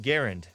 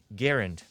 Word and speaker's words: Garand: But I learned that it's pronounced the M1 Garand because it was made by a guy named John C. Garand.